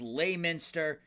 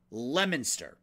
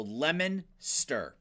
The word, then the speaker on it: Leominster: the jester went with layminster uh coach rafael with lowminster it's actually leminster so lemon stir it's like the lemon you know sour lemon lemon stir that's how that's pronounced